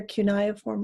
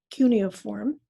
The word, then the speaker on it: cuneiform: And one of the earliest written languages that we have available to us is called either cuneiform or cuneiform. It's pronounced different ways. Either one is fine.